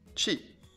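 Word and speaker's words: 四: n'est troisième chiffre 3 sam quatrième chif 4 shi 5e chiffre 5 go 6e chiffre 6 rocco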